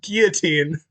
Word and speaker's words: guillotine: I don't even care about what you're saying, but it's pronounced guillotine.